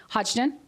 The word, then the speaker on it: Hodgdon: much for being here today i hope i'm pronouncing your last name right hodgdon you're doing it right lydian yes and he